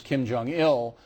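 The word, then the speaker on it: Kim Jong-il: was obvious that this Kim Jong ill uh Accent on the ill used this as a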